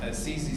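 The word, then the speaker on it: CiCi's: You're not supposed to sell burgers at Cece's Pizza, right? So it's spelled C-I-C-I, Cece's.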